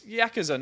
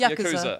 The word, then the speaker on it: Yakuza: I'm a yak and I'm probably saying it wrong it's Yakuza not Yakuza I'm so sorry that's